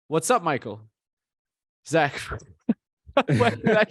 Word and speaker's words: Zaec: to spell to pronounce z aec how's that pronounced it's Zach but I mean when people see it oh they don't say Zach right okay yeah okay they're like zake exactly exactly so where's